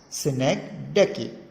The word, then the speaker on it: synecdoche: Yes, it is how it is pronounced, synecdoche.